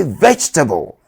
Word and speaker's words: vegetable: The E after the G is silent. Therefore, say vegetable.